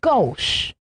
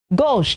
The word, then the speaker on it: gauche: November 20 is gauche. Gauche, G-A-U-C-H-E, gauche.